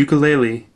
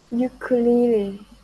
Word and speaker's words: ukulele: friends yeah thank you so you going to pronounce it listen ukulele ukulele ukulele ukulele can explain finding um a type of musical